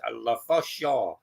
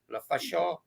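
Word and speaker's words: Lefaucheux: Well, they live in New York, but he's from Canada, and he said it's pronounced La Fachon. La Fachon.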